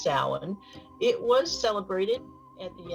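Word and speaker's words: Samhain: the way is spelled s-a-m-h-a-i-n it looks like Sam Hayne it's pronounced Salin it was celebrated at the end of what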